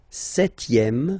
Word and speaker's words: septième: Le septième, so remember we don't pronounce this P here.